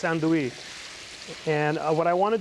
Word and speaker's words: andouille: It's actually spelled andouille, but it's andouille.